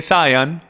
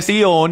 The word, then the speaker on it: Sión: el monte sión y mucha gente lo llaman el monte de sayán pero es pronunciado el monte sión y el monte sión